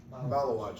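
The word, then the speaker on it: Maluach: And they had their big kid, I don't know how to pronounce his name, Malawach, thank you, Garden Tray.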